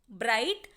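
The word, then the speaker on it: bright: word देखेंगे ब्र आइट ब्राइट यहां पर जी एच की साउंड आपको सुनाई नहीं देगी बिकॉज जी एच साइलेंट है यहां पर ब्राइटर ठीक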